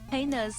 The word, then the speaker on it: heinous: Heinous rhymes with anus.